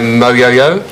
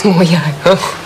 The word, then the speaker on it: Moyo: Xavier Moyo? Moyo. What? It's Moyo. Making quite an effort, aren't we?